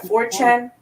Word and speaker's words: 4chan: oh 4chan you've got 4chan but they pronounce it like Fortune yeah good point I